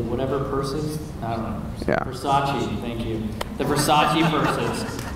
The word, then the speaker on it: Versace: thing well I've said that about all the baruchi how do you say the whatever purses I don't know Versace thank you the Versace purses I don't know